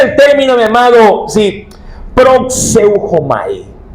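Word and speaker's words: προσεύχομαι: término, mi amado, sí, proxeujomai. Proxeuomai. Yo sé que es medio difícil pronunciar, pero esa es la pronunciación. Si repetir esta este término. Proseuomai significa orar, significa suplicar y significa adorar.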